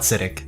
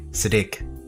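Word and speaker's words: Siddig: full name on there sorry siddique not acidic siddique it'll take some it'll take some time to readjust to the correct pronunciation that i found siddique el tahil anyway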